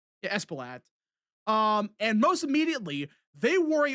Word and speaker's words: Espaillat: Espaillat? Yeah, Espaillat.